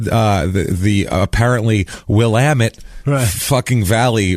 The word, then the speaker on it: Willamette: It is Willamette.